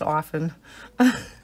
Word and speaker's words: often: It's often. They go, "Mom, that is not how you say it." I said, "Is there a T in there?" "Yes, Mom, but you don't pronounce the T."